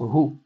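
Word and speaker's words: הוא: Meeler, Malcheha Melachim, Hakadosh Baruch Hu. Faire attention à bien prononcer le He de Hu pour ne pas l'avaler en disant Baruch Hu.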